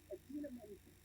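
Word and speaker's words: Idina Menzel: The iconic Adina Menzel, pronounced exactly as it is.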